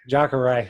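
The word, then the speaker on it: Jacaré: Jacare, yeah.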